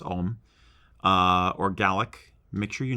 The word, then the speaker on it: ogham: My other thought would be if you decide to do something that is, for instance, written in Olgam, it's actually pronounced Olm, or Gaelic, make sure you know what the heck it says.